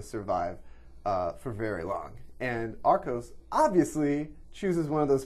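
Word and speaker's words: Archos: Arcos.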